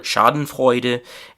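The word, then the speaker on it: Schadenfreude: So the German pronunciation is very similar shoden fida and in English it is shoden frea and shoden frea is a feeling of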